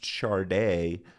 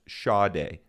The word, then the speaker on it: Sade: company actually printed pronounced charde on the labels of its release this was inaccurate it's actually pronounced sha without the r so there was a lot of confusion around that but it's pronounced shade no R several members